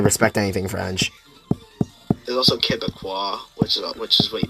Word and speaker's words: Quebecois: There's also Quebecois, which is what you pronounce. Which is how you say someone from Quebec. It's also how you pronounce. Quebecois?